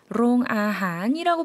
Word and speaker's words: โรงอาหาร: โรงอาหาร 롱아한이라고 발음을 해주는데요.